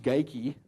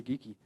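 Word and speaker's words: Geikie: fellow you know and his name always gets mispronounced geiki yeah he was scottish maybe it was right but i heard it was really geeky but we sold that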